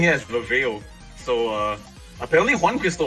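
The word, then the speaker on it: reveile: mean i okay the the origin name from it is a r e v e i l e which i found out like a few months ago that's pronounced rivelli well now that i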